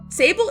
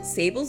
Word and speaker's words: Sable: Sable is the eldest of the Abel sisters and just like her sisters, Sable's name rhymes with her surname, Abel.